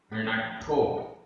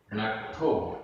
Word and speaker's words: नट्ठो: नट्ठो, नट्ठो, आधट्टा ठ की मात्रा, नट्ठो।